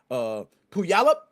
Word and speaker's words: Puyallup: I'm not sure I even pronounced the town name. It's like Puyallup, Washington.